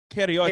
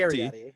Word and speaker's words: Capriotti: Okay, so my last name is Cariotti, Cariotti.